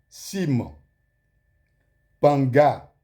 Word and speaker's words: Cim Panga: Et vous allez remarquer qu'il y a Sim, Panga, Sim qui s'écrit C-I-M, Panga, P-A-N-G-A.